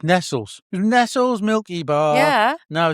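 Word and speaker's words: Nestlé: Nestle. It's Nestles. Nestles Milky Bar. Yeah. No, it's Nestle. No. No, it's Nestles. Nestles. It's always been Nestles.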